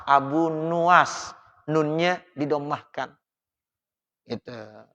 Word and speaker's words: Abu Nuwas: doanya Abu nuwas ini Abu Nawas yang bacanya Ilahi lastu orang kadang-kadang bilangnya Abunawas ya Jadi bukan Abu Nawas Abu nuwas nurnya Dido mah kan